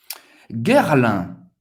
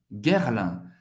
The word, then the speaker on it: Guerlain: Guerlain. Guerlain. Guerre. Ok? G-U-E-R. Vai ser pronunciado guerre. Guerre, como a guerra. Guerre. Lin. A-I-N tem o som do 1. Guerlain.